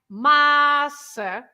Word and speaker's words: massa: If you have two syllables like that, no accents at all, you have to stress the syllable that is the one before the last. So in this case, just two syllables, you stress the first one.